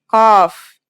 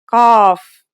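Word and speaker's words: قاف: dips beneath the line think about the word call and notice how it comes from deep in the throat it's a stronger version of the letter K said with the throat constricted like in sod and bod now let's handwrite the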